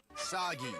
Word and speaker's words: Sagi: Sagi rhymes with sake.